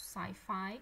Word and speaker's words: sci-fi: Maybe the only one that you don't know, l'unico forse che non sapete è questo sci-fi, che è il film di fantascienza, che si legge sci-fi.